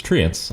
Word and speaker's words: Treants: Regional dialects aside, we are Canadian, and we now pronounce it as Treants.